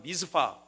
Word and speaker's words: 미스바: 여러분이 미스바는 어떤 곳입니까? 히브리어 성경 찾아보면 영어로 발음하면 미스파. 미스파라고 돼 있어요.